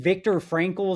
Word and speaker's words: Viktor Frankl: Is that I think Viktor Frankl is how you say his name?